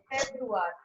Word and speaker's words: Februar: Next is February, which is called as Februar.